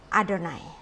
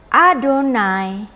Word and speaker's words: Adonai: dengan eh di sini, Adonai. Ya. Maka, bentuk penulisan seperti ini yang ada di buku-buku sidur Yahudi, ini adalah satu instruksi pembacaan. Bahwa walaupun hurufnya adalah Yud He Vav He, tetapi diucapkan dengan Adonai.